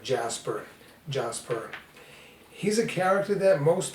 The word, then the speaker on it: Djas Puhr: ahead and use jasper i know some people pronounce it dangerous per or djaspur but it's kind of like jasper jasper he's a character that most people don't even